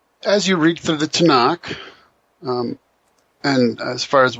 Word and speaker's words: Tanakh: And so Tanuk ends up just being pronounced as Tanakh.